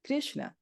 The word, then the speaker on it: Krishna: That's how you say that, Krishna. And I probably am not saying it right according to some Indians because I don't know how to do the Krish, but I'm Krishna.